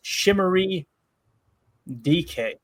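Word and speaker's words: Chimere Dike: Chamir Dyke is pronounced Shimmery DK."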